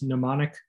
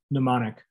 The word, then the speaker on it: mnemonic: a the word is mnemonic you don't really pronounce the m mnemonic mnemonic is a memory